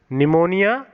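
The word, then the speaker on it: pneumonia: हैं प्लूरोटस email व्यवहारो निमोनिया पीठ N-you M ओ एन आई ऐ एस निमोनिया like और यहां पर निमोनिया में साइलेंट होता तो पी लो की एलबम प्ले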